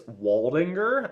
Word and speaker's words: Waldinger: It's Waldinger, which I believe is spelled Waldinger.